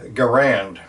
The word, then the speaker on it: Garand: a Canadian American and everybody pronounces the rifle Garand it just kind of took off and that's what we call it so in 1936